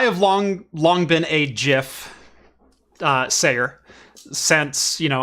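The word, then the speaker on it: GIF: will also say that i believe the creator gets to name his own creation and in that in that uh idea or that that ideal uh it should be pronounced jif well a couple of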